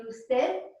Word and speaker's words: usted: And the U is a double O. Gracias. ¿Y usted? Gracias. ¿Y usted? Say double O for you.